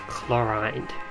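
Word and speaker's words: Clorinde: So her name's pronounced Chlorine.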